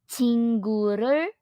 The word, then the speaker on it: 친구를: will put them together it is pronounced in Korean as chinguru singular and finally we